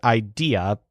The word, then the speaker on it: idea: word idea which is spelled just like the English word idea but stresses day shows that he always